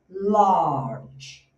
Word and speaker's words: large: Observe uma coisa na pronúncia. Você tá vendo esse aqui? Olha, esse a, na verdade, ele, você não abre a boca aqui, você vai fazer aqui. Então, vai fazer a, então é large.